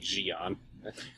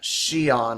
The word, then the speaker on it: Xi'an: doubt there'll be many people talking like Jian yeah or at least on I keep forgetting uh Xi'an I believe is the official pronunciation whatever carry on well